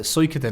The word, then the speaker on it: Suikoden: That's it, Suikoden.